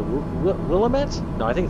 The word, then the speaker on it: Willamette: How do they pronounce it? Willamette? No, I think it's Willamette.